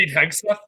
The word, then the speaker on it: Hegseth: We'll see if please see if you can figure out how to pronounce this new SecDef nominee's name. His last name I can't. Hegseth? There it is. That's what I thought it was. Hegseth.